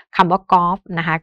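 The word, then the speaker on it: กอล์ฟ: คือ ลิง นะ คะ แล้ว ก็ คำ ว่า กอฟ นะ คะ ก็ ตัว การัน อยู่ ที่ ตัว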